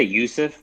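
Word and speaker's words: Juuse: have uh mr saros how do you say that first name it's j-u-u-s-e i say yusuf but i don't know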